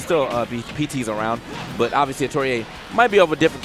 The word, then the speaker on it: Atelier: So, yeah, I know that, like, before this, if you watch Genesis, we were calling that man Atelier because we were just reading it. So we got the actual pronunciation. It is Atelier.